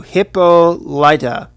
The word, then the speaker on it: Hippolyta: Hippolyta. I can never say her name right. I'm gonna try to. Hippolyta. That's how it sounds.